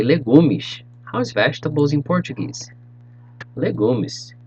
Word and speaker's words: legumes: salad in portuguese salad and vegetables you say legumish how's vegetables in portuguese legumes good job moving